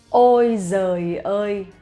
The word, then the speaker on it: ôi giời ơi: And in Vietnamese we say ôi giời ơi, ôi giời ơi, ôi giời ơi, okay? But that is how you actually pronounce correctly and slowly.